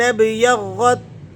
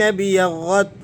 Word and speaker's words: ابْيَضَّتْ: اللَّهِ۔ وَأَمَّا الَّذِينَ ابْيَضَّتْ، نون کو آپ نے با سے ملانا ہے اور الف کو بیچ میں سے گرا دینا ہے۔ بعض ساتھی اسے الف سے ملا کر پڑھتے ہیں، یہ غلطی ہے، ایسا نہیں کرنا آپ نے، تو اس غلطی